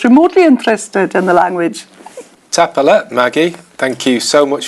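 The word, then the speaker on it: Tapadh leat: And then Tapalet. Tapalet is thank you. That's for the informal, and tapalage if you're speaking to more than one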